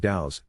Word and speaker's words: DAO: which stands for decentralized autonomous organization and is pronounced dao is an increasingly popular term in the world